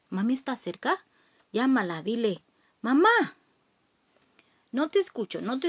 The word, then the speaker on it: mamá: la otra vez diles mamá mama cuando decimos mamá tenemos aquí este acento que quiere decir que tienes que decirle a más fuerte ma ma vamos grita